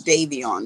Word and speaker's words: Davion: like cameron something simple how do you say his name debbie on d-a-v-a it's like david's such a real common name i'm getting samples davion okay it's davey on you guys it ain't no